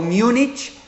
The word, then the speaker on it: Múnich: estudiando en múnich alemania así es la pronunciación correcta en español múnich alemania y antes de